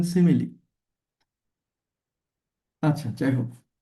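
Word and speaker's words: simile: অনেকে আবার সিমাইল বলতে পারেন। কিন্তু এটা ভুল। বলবেন সিমিলি।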